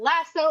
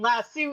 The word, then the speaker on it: lasso: Also, I have apparently officially found out that lasso is the American way of pronouncing it, and lasso is the UK and Australian way of pronouncing it.